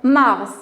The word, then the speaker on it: Mars: Mars, où on va le classer. Très bien. Alors, j'entends la lettre finale. Alors, ici, c'est Mars. Voilà. Alors, S se prononce.